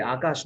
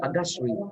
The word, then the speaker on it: Agashri: Pude, Akash, not Akash, Agashri.